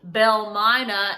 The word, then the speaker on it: Belle Mina: see mama them and it sort of became phonetically called Belle Myna and that is stilt